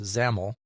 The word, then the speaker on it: XAML: It also uses XAML, which is pronounced XAML, and which stands for Extended Application Markup Language.